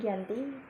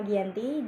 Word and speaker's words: Giyanti: tanggal 13 Februari 1755 nama Giyanti diambil dari lokasi penandatanganan perjanjian yaitu di desa Janti dalam pelafalan Belanda disebut Giyanti tempat tersebut sekarang dikenal